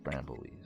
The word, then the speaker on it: Brambleweave: Oh, weave. Weave, not weed. Brambleweave.